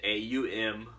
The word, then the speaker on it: Om: and by the way all is how it's pronounced AUM but it's kind of the creationary the a